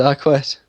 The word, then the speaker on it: Arquette: David Arquette. I don't know why you pronounce the Q in it.